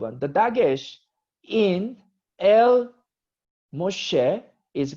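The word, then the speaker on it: מֹשֶׁה: So Moshe is Moses pronounced as Moshe.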